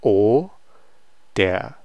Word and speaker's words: oder: Ist Paul Student oder so this is going to be o, der, oder, and normally it's going to be pronounced as oder.